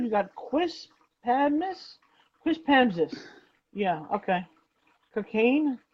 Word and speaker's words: Cocagne: Cocaine. Cocagne, which seems to be pronounced cocaine, but like in a very like perfume, a cologne kind of spelling.